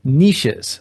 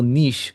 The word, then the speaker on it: niche: It's really more the idea of like niches of a an ecological niche or niche depending on how you want to pronounce it that an organism is occupying.